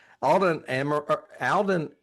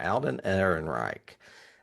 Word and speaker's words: Alden Ehrenreich: Alden Ehrenreich. I'm pronouncing that right. Alden Ehrenreich.